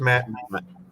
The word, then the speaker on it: matte: Some people, I've heard people say Mate. Isn't it just Matt? It's just Matt. So why would they say Mate? Because it's got the E and people don't understand how to pronounce it correctly.